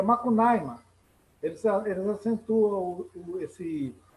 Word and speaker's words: Macunaíma: Talvez seja aquela longa estrada que o Macunaíma como os nossos parentes Macuxi exigem que se pronuncie o nome do herói deles, em vez de Macunaíma, é Macunaíma.